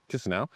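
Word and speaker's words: Chișinău: It's spelled Chisanau, but Kisanau is uh the way they pronounce it apparently.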